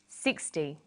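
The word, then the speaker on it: sixty: Usually the first syllable in a number is stressed. 16, 60.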